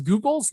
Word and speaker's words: Googol: As I said, it's Google, but it's spelled Googol.